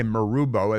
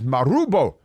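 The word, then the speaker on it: Marubo: to say Maro because you can't just say marbo it's m a r u Bo o but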